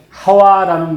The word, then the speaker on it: 하와: 영어로 하면 이브 그래서 원래의 우리가 이제 발음으로 제대로 한다면 유아 하와 이렇게 하는 말이 사실은 원어에 더 가깝습니다 미국 사람들이 아담과 이브